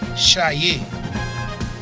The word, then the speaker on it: Chayé: C-H-A-Y-E, pronounced as A, Chayé.